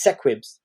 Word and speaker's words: Sequids: But then when I watched a TV show, it's sequids. Sequids. Instead of squids.